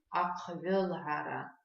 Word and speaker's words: Ахвелгара: Переписывание на абазинском языке ахвелгара. Ахвелгара. Давайте потренируем произношение этого слова. Не такое уж простое слово, целых 3 таких интересных звуков встречается в этом слове.